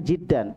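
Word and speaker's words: جدا: Ini ada tasydid di situ ya, dibacanya jiddan.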